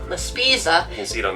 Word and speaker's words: La Spezia: So he said we were going to go to La Spina, did I say it right? La Spezia. La Spezia.